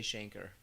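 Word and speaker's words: chancre: it's fun to say shanker because it rhymes with anchor and what i learned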